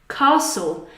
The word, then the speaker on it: castle: Castle, like Edinburgh Castle, a castle.